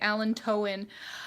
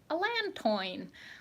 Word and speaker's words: allantoin: I have been called out for pronouncing allantoin wrong many, many times because the sort of basic French education I have from growing up in Canada makes me want to say allantoin.